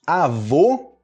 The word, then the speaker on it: avô: Aí a gente vai ter o ó com circunflexo. Avô.